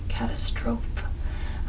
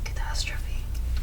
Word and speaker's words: catastrophe: When I first saw it, I pronounced it like catastroe. Um, even though it's like a Greek root word, and it's catastrophe. Catastrophe.